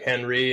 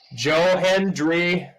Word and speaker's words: Hendry: like when we took Henry and I'm sorry, let me pronounce that better. Joe Hendry. Almost sounded like I said Henry, but I have a dip in.